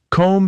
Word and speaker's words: comb: Comb has that silent b, but bomb has a clear b sound.